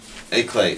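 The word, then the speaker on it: éclat: e CL a t eclad or EAD or whatever that's pronounced a clay yeah that's that's um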